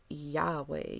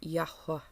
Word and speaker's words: Yahweh: powerful guy has been yahweh yod hey why hey okay or as i call him yahuwah okay um oh every